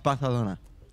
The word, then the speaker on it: Barcelona: You're both pronouncing Barcelona wrong. It's Barcelona.